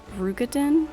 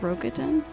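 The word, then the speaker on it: Roegadyn: Also, apparently it's pronounced Rugadin, not Rogadin.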